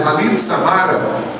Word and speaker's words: Khalil Samara: pai árabe, Khalil Samara, a pronúncia é Khalil Samara, e ele se tornou nosso missionário.